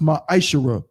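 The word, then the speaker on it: מעשר: Means 10th in Hebrew and is pronounced ma'ashara.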